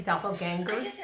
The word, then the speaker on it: doppelganger: every time I say doppelgangers because I say Gengar instead of ganger I don't know why but it's doppelganger how do you say